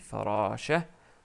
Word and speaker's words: فراشة: Ensuite, on rajoute le t marbout parce que c'est farashatun. Mais comme on s'arrête sur le mot, on dit farasha. On l'écrit, mais on ne la prononce pas. Donc c'est farasha. Je m'excuse pour la shadda